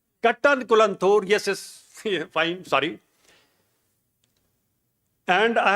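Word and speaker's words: Kattankulathur: Now my good friends are working here at SRM Kalankutanthur. How to pronounce? Kattankulanthur.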